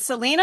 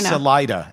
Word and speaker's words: Salida: Is it Is it Selena or is it Salena? Salida.